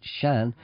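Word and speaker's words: Seán: name in GIC but s aan pronounced Shan is the way that people Irish speakers pronouned Shan that's what I'm called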